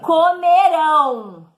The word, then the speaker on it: comerão: No futuro, a sílaba tônica do verbo vai ser a última, oxítona. Então, é comeram e comerão, ok?